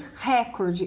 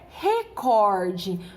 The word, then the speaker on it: recorde: ter a grande pegadinha pois nós escutamos recorde e o correto é recorde Olha só recorde última sílaba penúltima sílaba